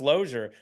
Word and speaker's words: Losier: like yeah you know but it's pronounced lure but all the kids